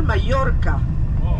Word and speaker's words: Mallorca: En espagnol, Mallorca. 2 L-O-R-C-A. Mais en français, ça s'écrit bien avec un J.